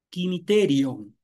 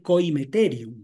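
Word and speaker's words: koimeterion: que es el griego, tiene ahí un dictongo, que es las primeras vocales o i, ¿no?, que es una abierta y una cerrada, por lo que la pronunciación debería ser quimiterium, ¿no? Más que coimeterium, ¿no?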